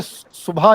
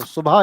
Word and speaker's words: सुबह: कुछ लोग बोलते हैं सु बहा कुछ बोलते हैं सुबह। अब जैसे असली जो प्रोपशन प्रोनाउंसिएशन है सुबह का वो है सु और बा कंबाइन होते हैं। हा अलग आता है। तो सुभा इज ट्रू वन।